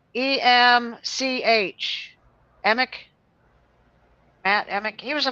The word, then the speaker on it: Emch: Emick, Matt Emick.